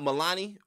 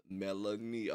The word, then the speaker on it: Melanie: Is it not Milani or is it Melanie? Is it Melanie? K-12 was so good. Honestly, same. I haven't gotten into Portals. It's the concert I'm going to. It's so good. Mel and E. So Melanie. So you say like Melanie? Melanie. Okay. Okay. Spell it like a kneecap.